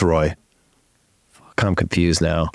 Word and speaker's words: Roy: Is it Ray? No, it's Roy.